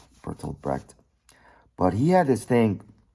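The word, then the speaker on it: Bertolt Brecht: The Germans pronounce it Bertold Breed.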